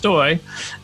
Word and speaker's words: Stoj: that goes back to my name being spelled St OJ however it's pronounced stoy um like boy and so my handle